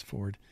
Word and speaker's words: Foard: It's spelled Foard, but it's Ford. F-O-A-R-D. I assumed it was Ford, but you never know.